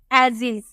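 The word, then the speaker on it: ages: एस का उच्चारण क्या करेंगे, आप इसे बोलेंगे एजिज। ये हमारा क्या है, एजिज, इसे हम बोलते हैं एजिज।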